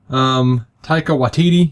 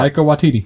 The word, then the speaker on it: Taika Waititi: Taika Waititi. You know that cat. Yeah. Never know how to say his name. I just told you. Yeah. Taika Waititi.